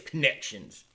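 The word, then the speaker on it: Connexions: with Hildebrandt for Connections, spelled Connexons. So it's almost like Connections. If you haven't tried to spell it out completely, but just say it's Connections.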